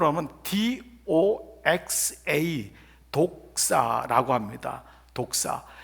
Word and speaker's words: doxa: 잖아요 그런데 영광 이란 단어의 헬라어 가 영어 스펠링을 함은 doxa 독사 라고 합니다 독사 이 독사 라고 하는 단어는